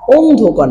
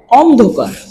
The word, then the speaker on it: অন্ধকার: চিহ্ন দিয়ে দিব এখানে যেটা লেখা আছে অন্ধকার অন্ধকার না উচ্চারণটা হবে অন্ধকার অন মানে এখানে আমরা